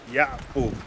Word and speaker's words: Yaqub: In Arabic, my real name is Yaqub.